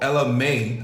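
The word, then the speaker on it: Ella Mai: Or you see how like Drake did it, like Now a lot of people don't know Ella May. I said it right? Yes. Ella May.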